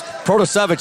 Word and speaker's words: Protocevich: and he was laughing he goes ah he goes it's protosavage they're scooping i said